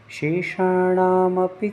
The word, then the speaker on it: शेषाणामपि: शेषा में यहाँ पर शक्कर वाला शा बोलने का प्रयास करें जिसमें सीटी का ध्वनित हो।